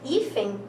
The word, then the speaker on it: hífen: E não é, porque nós podemos perceber que hífen, né? Qual é aqui a mais forte? É a penúltima.